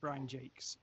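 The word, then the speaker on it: Brian Jacques: when it comes to it's Brian Jack right uh wasn't it I would I would that's how I would pronounce it but I've heard it pronounced Brian Jakes that may be an American thing sorry um I I have the same reaction to that because it's spelled j a q j a c q u s French ja Jac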